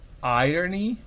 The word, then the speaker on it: irony: Irony, fíjense la diferencia, ¿no? Fíjense cómo se pronuncia iron. Yo resalto, no es exactamente. Iron, pero irony, fíjense cómo cambia. Es irony y en el otro es iron, planchar, o iron, hierro o férreo.